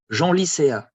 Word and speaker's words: Genlisea: And in this case, you have to pronounce like in the original language.